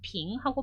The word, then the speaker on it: 瓶: 우리나라에서도 맥주 한 병, 두 병, 소주 한 병, 두 병 얘기할 때 그 병자 쓰듯이 중국에서도 이 병자가 빙하고 발음이 되는 거예요.